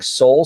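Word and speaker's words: Seoul: from leevy restaurants coming to downtown Disney including Soul Sister which is spelled SE o l is Korean um Sip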